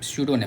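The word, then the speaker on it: pseudonym: उसको बोलते हैं सूडो नेम। क्या बोलते हैं? सूडो नेम। पी साइलेंट रहता है।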